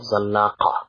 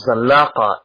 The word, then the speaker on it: Zallaqa: Then we'll move on to something which is known as the Battle of Zallaqa. In Spanish, Sagrajas, I believe they pronounce it as, but it's a place in which a battle occurs in the year 1086.